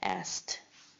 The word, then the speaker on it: asked: And asked. Asked. Asked. Yeah, the T sound at the end.